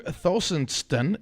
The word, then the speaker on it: Thostenson: 10th uh and joining us today is thonon did I pronounce that last name right he didn't butcher